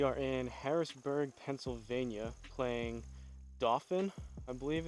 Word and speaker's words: Dauphin: in Harrisburg Pennsylvania playing dolphin I believe it's pronounced it looks similar to like dolphin without the L but Dolphin Highlands Golf